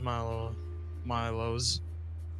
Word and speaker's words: Milo's: Although it's pronounced Milo's.